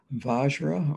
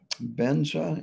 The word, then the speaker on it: vajra: and mind so um vajra or benza in the tibetan it's indestructible unchanging nondual